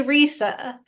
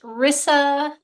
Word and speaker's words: Risa: go with Risa well you would think by the way it's spelled it should be Risa but my mom decided it'll be pronounced Rissa as if it had two s's in it okay you know what's